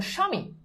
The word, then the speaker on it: স্বামী: এইবার দেখো ভাইয়া, শব্দের শুরুতে, প্রথম নিয়ম, শব্দের শুরুতে বফলা থাকলে সেটার উচ্চারণ হয় না। আবার বলছি, যদি দেখো যে শব্দের শুরুতে বফলা আছে তাহলে সেটার উচ্চারণ কখনোই হয় না। শব্দের শুরুতে বফলা থাকলে সেটার উচ্চারণ হয় না। যেমন দেখো স্বামী, স্বামী, স্বামী মানে কি?